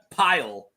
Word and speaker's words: Pyle: Yes, Pile. Pile, like Gomer Pyle.